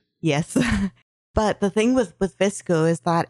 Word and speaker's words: VSCO: And one of the popular ones that's out now is called Visco, but it's spelled just VSCO.